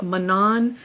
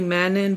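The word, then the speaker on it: Manon: And I went into into my Spotify Audible to find out what the pronunciation of her name is. They say Manan. I was about to say Mannon, but thankfully I went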